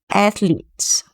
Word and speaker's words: athlete: So anyway, we want to pronounce this word this syllable, letting out more air, athletes.